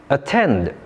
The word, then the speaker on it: attend: Attend. Patient. Candy. Apple. The answer is attend. It has stress on the second syllable while the other three have stress on the first syllable.